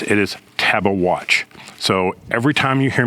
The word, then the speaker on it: Tabeguache: at the San Isabel National Forest, the correct pronunciation is not Tabaguchi, it's Taba Watch, not Tabash. Some people say that, but he says it is Taba Watch. So, every time you hear me say Tabaguchi, just in your mind, in your mind, hear